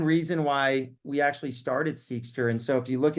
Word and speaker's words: Seqster: why we actually started seekster. And so if you look at the the E in seekster, there's a purple little line above the E because it's seer, and that's how it's pronunciated.